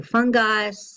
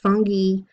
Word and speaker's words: fungi: course some people say fun guys some people say funghi I say fungi they're all different pronunciations for that and that includes mushrooms